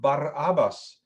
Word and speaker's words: Barabbas: the unusual name of bar abbas plays strongly in all four gospels barabbas barabbas is the way we would pronounce pronounce it in hebrew means literally son of